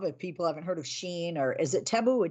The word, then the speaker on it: Shein: um I don't know did they pronounce it Sheen or do they pronounce it shine it's Sheen s-h-e-i-n-chi okay uh because I've